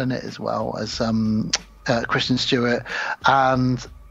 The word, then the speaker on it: Kristen Stewart: Isn't it Kirsten Stewart? I don't know what her name is. It's Kristen Stewart.